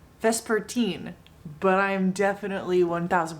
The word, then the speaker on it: Vespertine: i've finished the book that is pronounced vesper teen but i'm definitely one